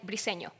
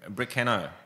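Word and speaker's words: Briceño: do you pronounce it we say pretty senior listen yes it's in Spanish but in English they call me everything bruh Cana yeah but you know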